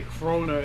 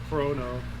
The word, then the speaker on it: Chrono: 90s crack-a-lacking oh god i hear you guys say crona instead of uh chrono i'm just like why